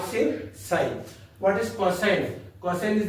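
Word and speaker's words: sine: s n how to pronounce sign many student pronounce it as Sin not sin sign what is coine coine is the co ratios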